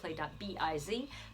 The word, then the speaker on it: biz: Biz that's closet. bis Biz rhymes with Liz I'm Liz from